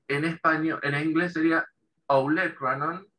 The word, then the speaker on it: olecranon: Y olecranon en español es igual, pero con acento en la E, olecranon, ¿sí?